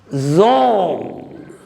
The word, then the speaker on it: genre: It must be pronounced as zong, zong, but we write it as Genre.